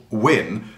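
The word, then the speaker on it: wynn: is just that letter win that old english letter but it does have in brackets underneath it w y n n for the pronunciation but then when it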